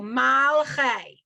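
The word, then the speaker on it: מלכי: The schwa is completely silent, but it kind of, in the middle of the word, it stops the word. So it stops the syllable, malchei.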